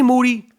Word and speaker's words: Moody: Moody, the last name rhymes with duty.